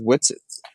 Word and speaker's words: Whitsett: say it means um my last name is what's it but it's spelled with an h and a t that are silent yeah which is actually